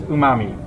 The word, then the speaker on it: umami: get two answers but i don't know if that's the correct pronunciation you just know from that commercial for umami i know it from reddit uh in this case you can trust reddit because the answer is umami yes that is the